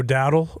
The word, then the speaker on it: Dowdle: It's actually Rico Dowdle. We've been pronouncing it wrong.